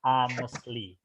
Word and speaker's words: honestly: Jadi huruf H-nya nggak dibaca ya, dibaca honestly. Honestly.